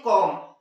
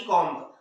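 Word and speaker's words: comb: पहली कंडीशन है कि यस, तो इसे हम लोग क्या पढ़ते हैं, कॉम, ना कि कॉम्ब।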